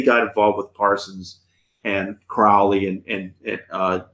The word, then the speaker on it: Crowley: involved with Parsons and Crowley and Crowley I'm sorry Crowley's how you say it correctly Kohli was in England